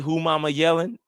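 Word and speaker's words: Umanmielen: He is a rookie, but Princeley who mama yelling yo and that's how you say it, too, bro.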